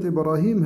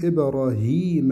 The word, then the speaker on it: إبراهيم: كلمة إبراهيم هذه العلامة دي علامة إيه؟ دي ياء مقلوبة، تنطق ياء وترسم هكذا، فنقول إبراهيم هيما وليس إبراهيم، يعني في ياء مادية،